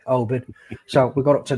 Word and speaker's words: Oban: Is it Alban? Oban. Oh, there you go, Oban.